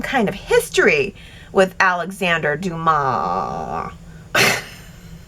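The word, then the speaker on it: Dumas: of history with Alexander Dumar. I think it's spelled D U M A S, but it said Duma.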